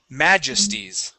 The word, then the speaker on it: majesties: majesties okay with the the stress is at the beginning of the word majesties majesties nice job okay